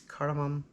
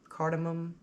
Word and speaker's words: cardamom: order ground cardamom yes cardamom cardamom it's spelled and sounds the same we're going to use